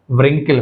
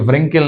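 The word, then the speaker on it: wrinkle: option के right L आर डब्ल्यू सो कौन सा साइलेंट कोसोनेंट डब्ल्यू रिंकिल कहना चाहिए नॉट व्रिंकिल रिंकिल नहीं कहते रिंकिल सो डब्ल्यू is silent letter here coming to 80 Chinese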